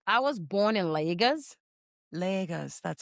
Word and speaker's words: Lagos: I was born in Lagos, Lagos.